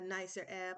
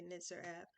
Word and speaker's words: Nitzer Ebb: thank the whole uh Nicer AB, I'm saying it right this time. I would normally say Niter AB family.